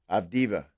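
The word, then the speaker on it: Avdija: of Diva That's it.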